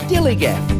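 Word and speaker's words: DILLIGAF: That's spelled D-I-L-L-I-G-A-F, dillygaff.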